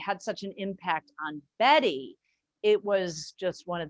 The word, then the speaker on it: Bette: bit one funny bit about the name about betty with an e at the end bette midler